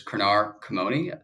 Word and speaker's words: Krenar Komoni: host Kyle Henderson and today special guest is kranar kamone the CEO of tive I apologize canar did I get the pronunciation your name you got it perfect perfect